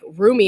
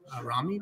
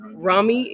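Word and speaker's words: Rumi: it is and like roomy and I'm saying his name wrong because that's not how you say it the poet how do you say it Ramy Ramy yeah yeah he is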